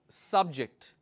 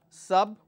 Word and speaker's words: subject: word which is subject I can stress on the first one subject or I focus on or I stress on the second syllable which is subject now Venice is subject and subject very nice when I'm focusing on the first syllable when I'm focusing on the first syllable it means it's a noun the king wanted to